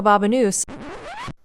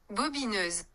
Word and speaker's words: Bobineuse: I actually literally can't believe how I just pronounced that. It's French, so let's just actually look up the proper pronunciation and just set the record straight. Bobineuse. Bobineuse. Bobineuse.